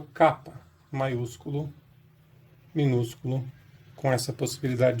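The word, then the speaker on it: κάππα: O nome dessa letra no grego antigo é kappa, que a gente translitera assim, com 2 P's, e pronuncia esses 2 P's com uma força um pouco maior, então seria kappa, kappa.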